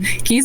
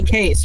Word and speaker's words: Kes: I still I feel like it's it's supposed to be case, right?